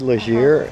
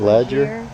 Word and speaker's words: Leger: Oh, they did leisure, not ledger. Yeah. Yeah. Well, leisure. Yeah, it is leisure. So, I was saying St. Lisier. L E G E R Leisure.